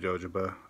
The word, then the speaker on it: jojoba: Yeah, I said jojoba. I speak American English. My brother's middle name is Joe. It's spelled J-O, so I figured J-O is pronounced Joe. I'm going to call it jojoba.